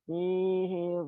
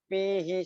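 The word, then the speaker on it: فيه: P-nya tadi seperti P. Pihi seperti bunyi P ya. Ingat P pakai F ya.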